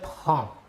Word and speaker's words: prends: les trois premières personnes le s final des deux premières personnes ne se prononceront pas mais s'écrivent passons maintenant aux trois personne